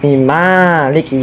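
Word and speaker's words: مالك: Di Al-Fatihah, tertulis seperti ini, kan? Huruf "mim" tidak memiliki alif, tetapi dibaca panjang: "Alhamdulillahi rabbil ' alamin, ar-Rahmanir-rahim, maliki yawmiddin," dibaca panjang.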